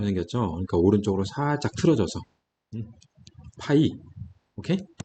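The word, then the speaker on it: π: 자, 이 기호는 파이라고 있습니다. 자, 뭐라고 읽는다고요? 파이. 자, 초코파이처럼 파이.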